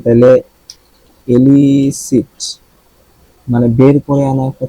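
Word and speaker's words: elicit: আছে এটা কি তাইলে এলিসিট মানে বের করে আনা একটা ছিল না এলিসিট এটাও ইলিসি দুইটার উচ্চারণ কিন্তু সেম এটাও ইলিসি এটাও ইলিসি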